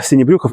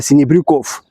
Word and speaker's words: Sinebrychoff: Но, как мы понимаем, что фины не могли нормально произносить фамилию и произносили не синебрюхов, как надо, а синебрюков.